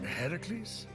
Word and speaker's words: Heracles: Heracles? Yeah, that! That is how it's supposed to be pronounced.